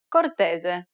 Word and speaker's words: cortese: S can also take on a Z sound when it appears between vowels. Casa. Cortese.